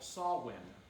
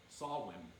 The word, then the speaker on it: Samhain: Now, in the Celtic tradition, it's called Samhain. Samhain. But it's spelled Samhain.